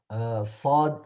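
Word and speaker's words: ص: But the difference between seen and ford is Sod is heavier in pronunciation, more thicker in pronunciation versus seen, while the seen is thinner in Okay. pronunciation. Sa versus fa, fa. Saw. Yeah, so the way of pronunciation is the same for both letters, but when we are pronouncing sod, we feel the air inside the mouth and then pronounce it.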